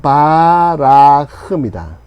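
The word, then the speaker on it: בָּרַח: 예 그래서 원형이 뭐냐면 바라흐다 도망하다. 도망가다. 도망가다. 바라흐. 예. 자, 바라크는 아니고 바라크는 저기 축복하다. 예. 무릎 무릎 꿇타. 예. 예. 바라크흐. 비슷하죠? 그렇게 기억하시면 돼요. 바라크가 아니라 바라흐구나.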